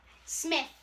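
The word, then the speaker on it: Smyth: Smith. But it's spelled a little different.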